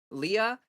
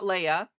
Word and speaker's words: Leah: Leah, right? Not Leia.